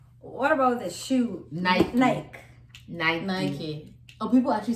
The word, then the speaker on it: Nike: really that's just it the company calls it Nike you can't miss especially if a brand pronounces the way that it's done yeah I was gonna say the brand tells you yeah Nike I'll do